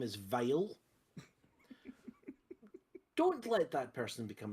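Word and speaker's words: Weil: working on this thing, his name is Dr. Vile. And don't think it's spelled with a V, it's spelled with a W.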